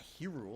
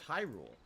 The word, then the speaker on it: Hyrule: high I don't know it is Hyrule right it's not hero it's Hyrule so if they're higher if it's Hyrule why are they hyruleans